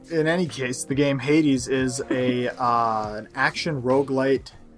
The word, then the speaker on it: Hades: games polaroid is it that's pronounced hades i've always thought it was hates hate wall page that's